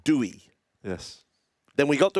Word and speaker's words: Doueihi: They'd pronounce it Doueihi.